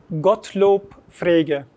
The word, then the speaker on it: Gottlob Frege: Nasıl telaffuz hocam yazarımızın adı? Gottlob Frege. Frege. Evet. Evet. Frege. Nasıl yazıldığı gibi.